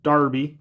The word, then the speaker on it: Derby: gloucester clemorgan cornwall wilt darby not derby that's darby unless somebody corrects me